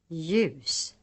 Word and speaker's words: ljus: The letter J is sometimes preceded by another consonant in the writing system. In such cases, the other letter is always silent. Examples. Jorde. Djur. Hjälp. Ljus.